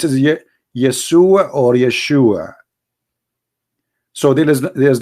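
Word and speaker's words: ישוע: pronounce the correct word the correct word in the Hebrew is Yeshua as simple as that so it's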